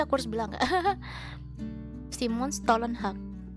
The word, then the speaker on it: Stålenhag: Electric State dari Simon Stålenhag, dari apa sih, seniman dari Swedia gitu. Tapi bagus banget sih, aku harus bilang nggak. Simon Stålenhag, terus aja sih kayak Stalin, tapi ininya pronunciation-nya Stolen.